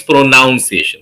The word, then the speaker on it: pronunciation: Many people think it's pronunciation.